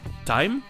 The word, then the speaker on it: thyme: Et enfin il existe des mots avec "th" où le "h" est juste muet comme par exemple du thym, "thyme" ou encore le fleuve connu sous le nom de la Tamise, "Thames".